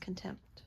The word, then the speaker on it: contempt: freaks me out is in contempt is a PE silent yeah because you just say it real fast contempt all right yeah okay